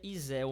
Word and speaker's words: Izel: Então, Izel, se pronuncia Izel mesmo, como se tivesse um acento aqui, Izel.